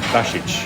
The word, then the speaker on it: Basich: But pronounce It's pronounced basic.